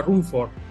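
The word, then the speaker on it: Ruhmkorff: que lleva su nombre la bobina de se pronuncia rumford este invento ayudó esto este invento que él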